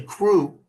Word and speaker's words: Krewe: I got it to say crew the right way. Because Louisiana, if it's a Mardi Gras crew, it's spelled Krewe. Right?